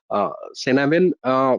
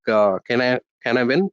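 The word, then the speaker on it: Cynefin: So thanks to Dave Snowden's, this is his Cenavin framework. It's pronounced very differently, so it's also pronounced like Canavin framework.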